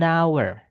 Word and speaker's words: hour: Nah, itu kita bilangnya an hour. Padahal hour itu tulisannya awalannya H.